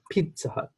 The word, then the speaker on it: Pizza Hut: You're kind of emphasizing Pizza Hut, Burger King, but it should be Pizza Hut, Pizza Hut.